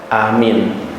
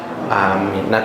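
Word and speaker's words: آمين: dengan apa yang membacanya bisa tiga cara yang benar yang satu yang pertama Amin yang kedua amin Hai yang ketiga am I Hai Min Hai nah yang benar mana yang pertama Amin artinya apa allahummas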